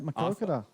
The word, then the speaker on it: Maquoketa: He pronounced it right, Maquoketa.